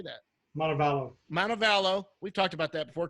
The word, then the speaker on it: Montevallo: Montevallo.